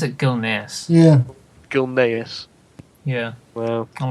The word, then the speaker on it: Gilneas: what i've heard see i pronounce it gilneas i see it like if like the s is silent you're weird daniel i